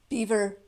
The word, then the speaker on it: Belvoir: she lives in bev beaver cast castle beaver castle it's spelled b-e-l-v-o-i-r so in french it would be belvoir right but the british